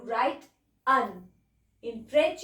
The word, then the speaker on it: un: French में लिखते हैं अन और बोलते हैं अ.